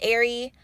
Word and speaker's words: Eri: My name is Ari, pronounced like Air-E.